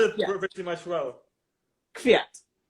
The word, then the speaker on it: Kvyat: So you So as you told, you sort of swallow the K, right? So it's like no, Kvyat. Kvyat. Oh, you swallowed the V. So you said it pretty much well. Kvyat.